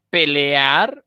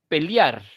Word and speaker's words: pelear: el diptongo Y entonces en lugar de decir pelear dicen pelear como un diptongo en vez de generar